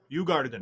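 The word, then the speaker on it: Djurgården: How do you say the Jardan? Ugardan.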